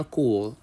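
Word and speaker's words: cours: الرحمن وكلمه حصه اسمها كو كو ا الحصه الاولى كو ا ناخد بالنا ان حرف الاس معظم الكلمات بنسبه 90% لا ينطق في اخرها كو يعني الحصه الاولى هنبدا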